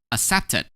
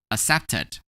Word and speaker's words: accepted: When we add ed to accept, we're gonna pronounce it as accepted, accepted.